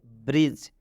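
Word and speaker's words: bridge: अब हम एग्जाम्पल की तरफ बढ़ते हैं, जैसे ब्रिज। इस ब्रिज में डी आया हुआ है और डी के बाद जी है तो इस डी का उच्चारण नहीं होगा।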